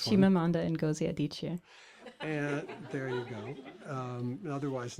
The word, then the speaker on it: Chimamanda Ngozi Adichie: So we have Tessa Hadley, Ruth Parajavala, and then we have the person, wonderful writer, whose name that you will pronounce for me. Chimamanda Ngozi Adichie.